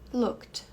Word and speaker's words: looked: bem pronunciado então Wanted aqui eu não vou falar esse e porque o verbo termina em k e a pronúncia lá